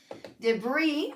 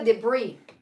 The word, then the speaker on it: debris: Debris, y se pronuncia debris, no, debris.